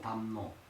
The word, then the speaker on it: 담로: 근데 5세기 때 발음은 담, 네. 이게 담노. 담로.